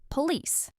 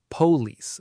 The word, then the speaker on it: police: Word number 10, our last one, police. A lot of learners put the stress on the first part, police, but native speakers stress the second part, police.